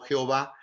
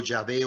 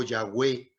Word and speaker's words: Yahvé: soy, de ahí vienen las letras que nosotros pronunciamos como Jehová, pero en realidad es más apegado al hebreo Yahvé o Yahweh, pero significa yo soy, Yo soy.